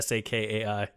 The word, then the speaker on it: Sakai: Or how would you pronounce that, Sharpie? Sakai?